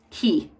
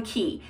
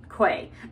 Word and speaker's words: Quay: my own purchase from key and it's actually pronounced key not quay even though you would